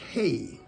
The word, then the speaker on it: He: Number 5, this is pronounced hey.